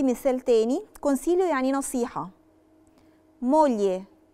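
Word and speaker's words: moglie: مولي، مولي مولي يعني زوجة، ما نطقتش برضو فيها خالص لا لترة جي.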